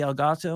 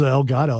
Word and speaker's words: Elgato: Yeah, I use the Elgato one. It's the best one. The problem I is thought it was El Gato.